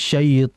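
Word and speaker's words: الشيطان: pada kondisi berharakat fathah Jangan sampai kita membacanya dengan memonyongkan kedua kedua bibir karena memonyokkan kedua bibir hanya pada harakat damah kalau misalkan pada huruf Isti ya maka merupakan kesalahan kalau kita membaca auzubillahiminasyaitonirrajim syait hati-hati jangan dimonyongkan bibirnya ya cukup dengan menaikkan pangkal lidah ke langit-langit atas jadi itu harus diperhatikan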